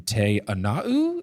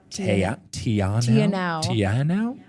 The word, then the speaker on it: Te Anau: Tianau. Tianau. Okay. We're I was saying so Te'anau, trying to pronounce every single letter. That was too much.